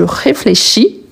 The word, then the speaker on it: réfléchis: Ce n'est pas parce qu'il n'est pas prononcé que je dois le supprimer. Il est supprimé à l'oral, mais à l'écrit, il est toujours là. Donc, je réfléchis, tu réfléchis.